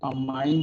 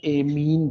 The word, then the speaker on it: amine: Pronunciation अमाइन भी होता है और एमीन भी होता है.